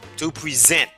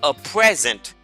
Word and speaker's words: present: Donc c'est le deuxième syllabe là qui est accentué. On dit to present. Mais si on a un cadeau, comment on va dire? On va dire a present.